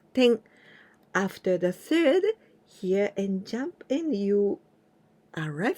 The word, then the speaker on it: へ: Fourth letter is he, ha, hi, hu, he. H and E sound. He.